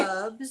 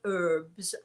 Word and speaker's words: herbs: Herbs. And in America, you say herbs, as they do in France. But we in England, we say herbs because, after all, we pronounce the H.